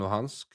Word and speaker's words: Luhansk: lose Crimea and they will lose Donetsk and Luhansk, if that's how you pronounce it.